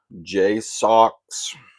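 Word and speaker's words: JSAUX: And J Socks, that's how you pronounce it.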